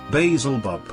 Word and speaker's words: Beelzebub: By the way, if you're reading this, oh Lord of the Worms, it's pronounced as spelled here, Beelzebub.